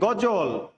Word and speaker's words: গজল: গজল, অন্তস্থ জয়ের উচ্চারণ হবে না, বর্গীয় জ হবে।